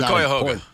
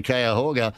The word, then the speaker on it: Cuyahoga: whose name I'm not going to try and pronounce. The Cuyahoga.